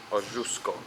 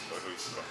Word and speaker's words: Ožujsko: And this is the most popular beer in Bosnia and Herzegovina, but it's actually Croatian, so it would be pronounced Ožujsko, yes? Yes, Ožujsko.